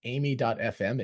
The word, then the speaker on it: Aimi: founder and CEO of amy.fm it is Amy right that's how you pronounce it that's correct okay